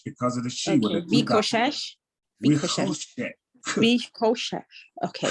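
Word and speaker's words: וחשך: Vachoshesh. Vishoshesh. It's not a ch. It's a k. Vikoshesh. Right. So remember, it's rush because of the Shiva. Okay. Vikoshesh.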